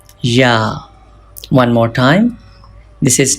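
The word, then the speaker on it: ي: For pronouncing Ya, touch the middle part of the tongue with the middle part of the palate. From here, you can pronounce Ya. Ya. Ya.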